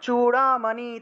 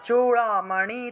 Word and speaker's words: চূড়ামণি: Padma, Padmavati পদ্মকোশে, Padmavati পদ্মকোশে cafe চূড়ামণি তথা, cafe চূড়ামণি তথা, চু উচ্চারণ করবেন, চয়ের নিচে দীর্ঘ উকার, তাহলে চূড়ামণি তথা, জ্বালামুখী, জ্বালা বর্গীয় জয়ের নিচে বফলা ছিল, তাহলে জ্বালা উচ্চারণ হবে, জ্বালামুখী নখ জ্বালম, নখ জ্বালম।